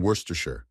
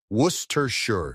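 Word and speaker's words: Worcestershire: Story 7 saying worstershure. America, you have a worester. You pronounce it like we do. Worershure. It's that simply. I'm not asking you to speak Latin. I'm not asking you to sing rap god in Chinese. Just say wuss tear.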